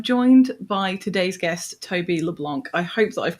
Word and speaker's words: LeBlanc: Uh, I assumed it was like Matt Leblanc and that's what I was channeling when I was saying your name.